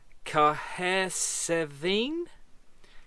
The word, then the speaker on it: Cahersiveen: And instead, we basically come back through Port Magee and ended up here, which I can't even consider how you pronounce that name. Cahersiveen.